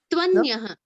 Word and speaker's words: त्वन्यः: V comes immediately after T. There is no gap in between.